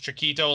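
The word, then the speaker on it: Txikito: it's spelled like t-x-i-k-i-t-o or something but still pronounced chiquito like the pronunciation is the same as the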